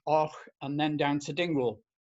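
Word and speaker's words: Avoch: Then Fortrose, Och, spelled Abok, but pronounced Och, and then down to Dingwall.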